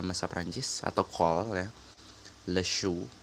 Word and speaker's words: le chou: Le chou, bacanya le chou, dia maskulang.